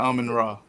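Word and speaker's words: Amon-Ra: Ain't that how you pronounce his name? Yeah, Amon Ra.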